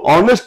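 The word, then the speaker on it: honest: का प्रयोग करेंगे तो ऑनेस्ट के पहले एन लगा एच से लिखे हुए थे एच है लेकिन हमने ए नहीं लगाया क्यों नहीं लगाया क्योंकि इसका उच्चारण आ से हो रहा है और आ कहां है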